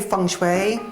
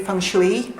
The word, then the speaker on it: feng shui: People pronounce that many different ways. Some say feng shui, some say feng shley, some say feng shway.